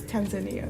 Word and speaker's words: Tanzania: People pronounce it very different, but it's Tanzania.